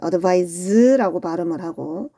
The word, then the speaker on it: advise: 그런데 얘를 C 대신에 S를 적으면 advise라고 발음을 하고 이때는 동사로서 충고하다라는 뜻이에요.